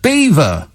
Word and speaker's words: Belvoir: of leicestershire and is spelled belvoir b-e-l-v-o-i-r but it's pronounced beaver for no better reason